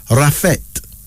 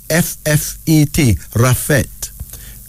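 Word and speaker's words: Raffet: is used most often for males then there's rafet r-a-f-f-e-t rafet Arabic male name commonly heard in Egypt meaning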